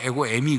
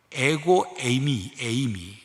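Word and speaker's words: ἐγώ εἰμι: 2부 때 제가 에고 에이미를 빨리 발음해 에고 에미 그랬더니 2부 끝난 다음에 그 에미라고 읽으면 안 되지 않느냐. 듣는 분이 아마 그런가. 아이고 에이미야 비 온다 빨래 걷어라 그렇게 들으셨나 봐.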